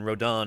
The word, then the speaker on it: Rodan: Anyway by AUST rodon Rodan rodon is is how you actually pronounce his name and uh uh